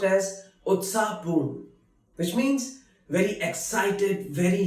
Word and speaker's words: उत्साहपूर्ण: Utsahpoon, which is pronounced as Utsahpoon, which means very excited, very lively.